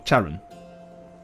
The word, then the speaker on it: Charon: Charon, yeah, it is Charon. It's not Charon.